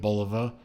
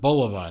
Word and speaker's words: Bulova: is a watch that Bulova never made yes I pronounce it Bulova not Bulova you know I'm sorry Bulova sounds silly to me I'm not gonna say